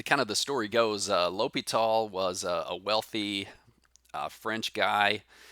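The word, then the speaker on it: L'Hôpital: like l'hospital's rule right the s here is silent low pete all the guys french so there you go and there's the pronunciation down at the bottom l'hopital kind of an interesting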